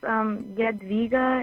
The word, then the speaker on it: Jadwiga: It's Jadwiga. It's because we're Lithuanian. Oh, I see. Okay, so it's a J with the D in it. So it's phonetically, I would hear it a different way.